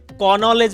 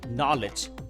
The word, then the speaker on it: knowledge: অন্যদিকে কনলেজ বা কনলেজ যেটা বলছে এটা হবে না, কারণ কেটা তখন কি হবে? সাইলেন্ট হবে, হবে নলেজ, নলেজ।